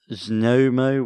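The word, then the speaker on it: Znojmo: p-o-d-y-j-i national park and that trail is between snomo which is z-n-o-j-m-o and sobes vineyard which is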